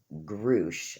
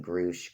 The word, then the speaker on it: Grusch: about the ex-military guy David groosh I think that's how you say his name groosh grush it's g-r-u-s-c-h he's the guy that's